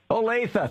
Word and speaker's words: Olathe: I've given up trying to pronounce the name of your city, Drew. I can never remember it. I always Olathe. Olathe, thank you.